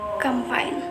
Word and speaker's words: campaign: The letter G will become a silent letter when there is an N after it in a word of, for example, design, sign, foreign, campaign. Number four, the silent N.